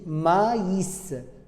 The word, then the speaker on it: maïs: I tréma nous oblige de séparer les lettres. Il faut prononcer le A, le I, le S. On dit maïs, maïs.